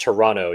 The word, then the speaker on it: Toronto: We have Brisbane, Sacramento, Montreal, uh to it's pronounced Toronto, your excellency. You don't pronounce that T.